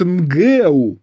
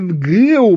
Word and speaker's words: НГЭУ: возразить что там НГУ А тут нгэу ударение нгэу будет ну он её не